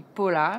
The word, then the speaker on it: Paula: Ça s'écrit Paula, mais ça prononce Paula.